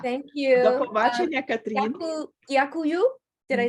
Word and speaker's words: Дякую: Дякую. Did I say it right? Дякую. Yeah, Дякую.